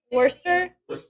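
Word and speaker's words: Worcester: not a bit 40 how do you say it wor wor Worster I'm from Texas that just sounds so weird 400 420 now 440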